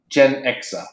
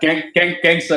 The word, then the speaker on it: Genxa: And it became, and it is officially pronounced Genxa.